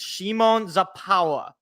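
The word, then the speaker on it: Szymon Zapała: got I got a proper instruction on how to pronounce it's Shimon zapa all right my my buddy is Polish he's got literally his parents are immigrants he know he Tau he taught me how to pronounce Shimon zapa's name so I'm never gonna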